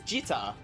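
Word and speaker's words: gitarr: But in Sweden we say it like with a J. Oh, so it's gitar.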